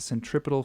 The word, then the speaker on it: centripetal: means Central and then the last part of the word is pedal or centripedal that's how you normally pronounce it it's a centripetal force it's the force towards